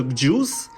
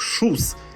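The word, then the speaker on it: Kjus: цікава курточка від бренду хоч вона і пише Джус по факту але сам засновник олімпійський чемпіон ласе Джус Він каже що треба вимовляти як шус Ну тепер буду знати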